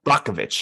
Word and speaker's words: Brockovich: And I think you don't have Erin Brockovich's, that's how you pronounce her name, Brockovich? Yeah. Brockovich, yeah.